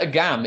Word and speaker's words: Agam: I like that Agam is pronounced differently to Adam. The emphasis is different.